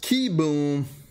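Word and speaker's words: Kieboom: Pronounced Kiboom. Carter Kiboom.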